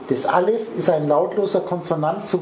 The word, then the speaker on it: Aleph: Aleph ist ein Konsonant, ein lautloser, mhm, und pass auf,